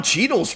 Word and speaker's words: Cheadle: black well that Don cheadle's pretty dark well just yeah heart blocker than Don Cheadle that also rhymes with Beetle that's a win-win right